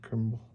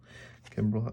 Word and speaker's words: Kimbrel: whoa let's go on JP Crawford governor Greg crumble Kimbrel oh I say his name wrong so funny decades best oh wow I